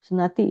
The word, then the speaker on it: sunāti: Sunāti is listen. Sunāti. Okay, long A.